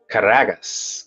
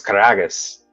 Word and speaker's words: Karagas: Caragas. Caragas. Is that Dimmitri? So, he's Greek. I'm saying it wrong. It's Karagas.